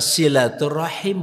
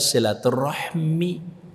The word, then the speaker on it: silaturahim: bahasa kasih kalau rahim makanya adalah silaturahim bukan silaturahmi yang bener itu bacanya wallahualam ini yang